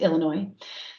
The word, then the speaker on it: Illinois: And Gary, the S is silent as a native Chicagoan, so it's Illinois.